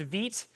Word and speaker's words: Vite: It's pronounced Vite. I believe it's because, I might be wrong, I'm pretty sure that it is going off of a French pronunciation from, if I remember what the documentation said.